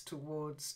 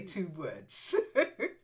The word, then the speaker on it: towards: bit and just towards towards towards because your tendency is to say two words yes it's an old